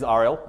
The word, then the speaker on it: Ariel: round about me so my name is Arielle as Chris said like the mermaid I'll make the joke